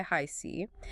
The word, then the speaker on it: HiC: That's pronounced Tarot by Hi C.